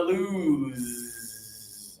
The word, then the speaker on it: lose: I can hear you already doing the This one here has vibration. This one has no vibration. Put up your hand, everybody. Put your thumb out like this and touch right here for this one. Let's hear lose.